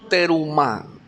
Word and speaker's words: terumá: ¿Cómo se dice en hebreo ofrenda? Terumá, terumá. Así es.